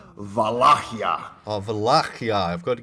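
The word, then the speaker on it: Valahia: is we uh well the original Romanian pronunciation is vakia oh vakia I've got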